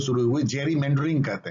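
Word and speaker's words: gerrymandering: Jerry Gary मेंडरिंग या Jerry मेंडरिंग, spelling जी से start होता है, जेरी मेंडरिंग।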